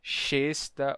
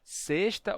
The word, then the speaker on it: sexta: só pode ser S eu não posso dizer xesta ou xesta é só sexta ou sexta ah ok tá no